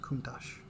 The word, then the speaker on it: Countach: C O U N T A C H Count O A pronounced Countach spelled count O but pronounced Countach and I have no idea what it means.